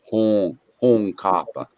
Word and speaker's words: Hunkapa: It's actually pronounced Hong Kappa. Hong. Got that nasal sound in it.